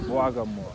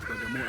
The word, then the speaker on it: Bagamoyo: So when the German came here, they failed to pronounce W because it was Bwaga, which is B-W. Bagamoyo.